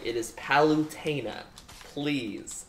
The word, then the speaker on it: Palutena: Kid Icarus this is the it is not pollutina as my friends say it is palutena please pronunciation who brought anything up about Ludacris you